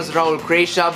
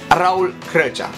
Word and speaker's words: Raul Crăcea: I'm 17 years old My name actually is not pronoun Raul crea but Raul crăcea You probably don't know